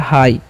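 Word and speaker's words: high: अब देखिए नेक्स्ट क्या है, एच आई जी एच है, तो एच का उच्चारण ह, आई, आई के बाद जब भी जी एच रहेगा ना तो उसका उच्चारण नहीं करना है, ठीक है। आई का उच्चारण आई कर देना, तो क्या हाई।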